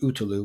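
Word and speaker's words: Ötillö: this swim run race called otil which is pronounced utu which means island island and it's you you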